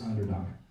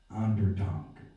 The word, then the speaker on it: Onderdonk: persons I thought of was this guy, Chris Onderdonk. And like I say, I've known him for 3-4 years, and it's not until about 3 months ago that I learned how to pronounce his last name. Onderdonk.